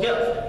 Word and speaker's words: GFT: I do business with called gift it's spelled gft and they allow you